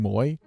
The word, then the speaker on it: MWOY: She used to be MWOI, but I guess people were not saying it right. So she changed it to MWOY because people kept saying Moy.